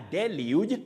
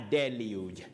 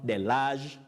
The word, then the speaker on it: deluge: after the Heavy Rain a deluge not the large the leaves sometimes certain stylish pronunciations in English can be very tricky somebody can say the large then you realize that you're talking about something that does not exist in English that is the English